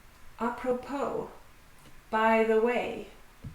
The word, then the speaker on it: apropos: Apropos. By the way. The final S is silent.